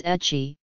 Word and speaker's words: ecchi: Mark McClelland puts forth the observation that the term hentai found itself shortened to H and that the English pronunciation was ecchi, referring to lewdness and which did not carry the stronger connotation of abnormality or perversion.